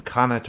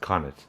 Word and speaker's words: Connacht: I wanted to get the pronunciation right when I did the song, and according to my sources, it's pronounced Connacht, not Connacht.